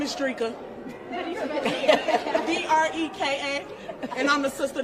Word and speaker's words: Dreka: My name is Dreka.